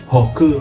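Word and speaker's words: 北: about this one but it also have another pronunciation that is HOKU right yeah so if you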